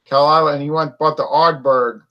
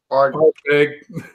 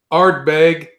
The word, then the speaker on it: Ardbeg: Kalila, and he went and bought the Ardberg. Ardbeg. What? Ardbeg. Ardbeg. If he bought the Ardbeg after he bought that Kalila.